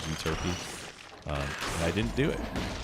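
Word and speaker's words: Euterpe: Like in my servants video, I went back and forth between uturp and uturpe. The actual pronunciation is uturpy.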